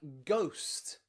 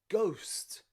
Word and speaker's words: ghost: bit special is because when g is at the beginning of a word and it's followed by the letter h it means the h is silent okay and the g